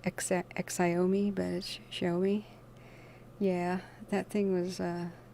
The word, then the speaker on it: Xiaomi: just like the makers of the cell phones show me it's like x i a and i but it's pronounced show me it looks like xxxiome but show me yeah that thing was uh like 350 bucks